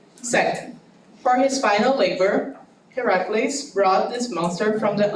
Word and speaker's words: Heracles: That's how you pronounce it. Heracles.